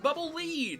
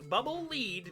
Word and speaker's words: Bubble Lead: and has stated that it is in fact bubble lead because it leads you along for forward not bubble lead because it sinks like